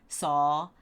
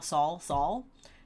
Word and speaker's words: Saul: I'm sorry, I really struggle with Saul, and that's because if I'm not thinking about it, I pronounce the word saw like I saw. So it would be Samuel Saul, which is not right.